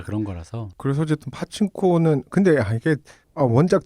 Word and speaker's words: 파친코: 그래서 어쨌든 파친코는 근데 이게 원작 제목이 파친코니까 그렇게 말은 하긴 하는데 이게 잘 안 붙죠 우리한테 그냥 빠친코라 그러는 게 제일 편한데. 그러니까 저도 모르게 검색을 빠친코로 하고 있어. 파친코로 돼. 그게 약간 미국식으로 그걸 발음한 거다 보니까 뭐 어쨌든 파친코라고 써 있습니다.